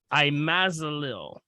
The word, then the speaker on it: imazalil: It's called imazalil. I-M as in Mary, A-Z-A-L-I-L.